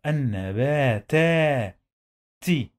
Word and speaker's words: النباتات: When we add L to any word starts with noon, we don't pronounce the lam.